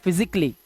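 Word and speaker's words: physically: जब आप इस वर्ड को प्रोनाउंस करते हैं तो यहां पर आपको ए साइलेंट रखना होता है और आप इसे पढ़ते हैं फिजिकली। सिर्फ फिजिकली ना कि कली।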